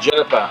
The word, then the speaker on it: GINIPA: have J IPA but it's actually pronounced Juniper which is a plan